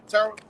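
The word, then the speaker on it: Terah: house that's how you say his name yeah Terra all right he separated him from his uh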